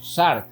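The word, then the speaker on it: σάρξ: es la palabra carne carne en griego se escribe la siguiente manera en español se puede leer como sharp de entre tantos significados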